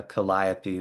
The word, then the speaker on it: Calliope: The Calliope was partly for Anthony because then there's an E that you pronounce. In fact, you know what? We'll just say Calliope.